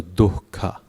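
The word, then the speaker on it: दुःख: So dukkha, like that. So you just pronounce it as a gentle H sound coming out.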